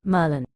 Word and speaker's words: Maryland: bother saying the state Maryland pronounced Merlin my alternative would be